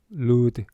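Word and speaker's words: Lourdes: 루드. 그게 L O U R D E S거든. L O U R D E S. 루드라고 읽어.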